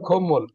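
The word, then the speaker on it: 콧물: আমরা যখন বলি খো মানে নাক, খত মূল মানে নাকের পানি, কিন্তু উচ্চারণ হবে খম্মল, উচ্চারণ হবে খম্মল, কাশাকাশি করে না, খম্মল, খতমুল উচ্চারণ হবে খম্মল, খম্মল।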